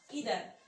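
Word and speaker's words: either: उसके बाद देखिए यहाँ पर सेकंड आता है हमारा ईदर। तो देखिए जो ईदर है, इसको कई आइदर भी प्रोनाउंस करते हैं।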